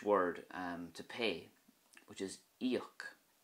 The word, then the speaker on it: íoc: But if you think of the Irish word to pay, which is íoc, you'll see the I fada kicking in there with the E sound. Íoc.